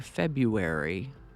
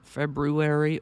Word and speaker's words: February: do you pronounce it some people lean hard into that first r as in February others sort of ignore that first R and lean into the U like February hopefully you'll be relieved